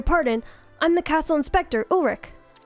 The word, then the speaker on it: Ulrich: I'm the castle inspector, Ulrich. I know that because I watched Code Lyoko as a kid, and that's how you pronounce that name.